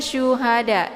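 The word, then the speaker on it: شهداء: 2 harakat saja kemudian Syuhada ini syu ya sya Jadi bukan Sa bukan juga asa ya bukan Sin tapi sya sya yang sifat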